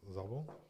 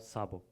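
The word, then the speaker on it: Szabo: Yeah, Zabo. Am I pronouncing it properly? Sabo.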